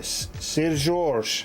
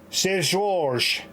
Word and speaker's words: Seu Jorge: Seu Jorge.